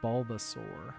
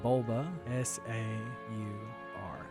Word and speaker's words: Bulbasaur: And then we're going to name the next one Bulbasaur. God forbid I forget how to spell Bulbasaur. Bulb, B-U-L-B, Bulba, S-A-U-R.